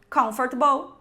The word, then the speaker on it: comfortable: Vegetable comfortable. Essa palavra aqui, o erro aqui é pronunciar o T muito forte.